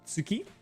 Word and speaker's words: Tuki: Tuki. Um, I think her name is pronounced Tsuki in Japanese. Suki because there's no two sound, but I don't know. Just stylistically, it's Tuki.